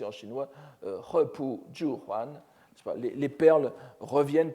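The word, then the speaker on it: 合浦: Donc vous le voyez ici, donc il faut le prononcer en chinois, Hepu Juhuan.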